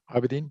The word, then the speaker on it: Abedin: ordinarily abedin the uh is that pronounced correctly abedin yeah abedin that's correct all right um i